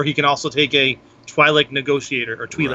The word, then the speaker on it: Twi'lek: Hey, if I have Jabba, I know he can also take Weequay Guard, or he can also take a Twi'lek Negotiator or Twi'lek. Right. How do you pronounce it?